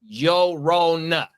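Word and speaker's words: Llorona: The double L makes a Y sound in Spanish.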